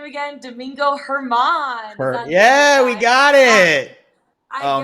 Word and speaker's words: Domingo Germán: Jared, how do I pronounce his name again? Domingo Germán.